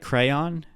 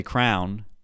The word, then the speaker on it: crayon: I saying that right crayon at least I don't say Crown there are people out there who pronounce crayon as crown and those people deserve